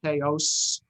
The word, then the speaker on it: payos: Payah is singular, payot is plural, pronounced in the modern Israeli way. Pronounced in the Ashkenazi way, it would be payos or payas, and that's why it's these.